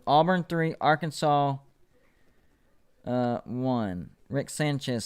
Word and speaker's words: Rick Sanchez: okay yeah we're good i can't say that name right quick i say like ris chan says i think it's what i try to say it's rick sanchez that is the correct way to say that am going once going